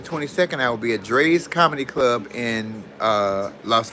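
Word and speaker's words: Drai's: And then the 20th through the 22nd, I will be at Dre's Comedy Club in uh, Las Vegas, Nevada. Y'all get y'all tickets. Dre is spelled D R A I S.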